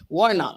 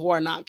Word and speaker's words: Warnock: was like um we're voting for war knock Warner I think he was saying it wrong at first I was like his name was Warnock he's Warhawk like who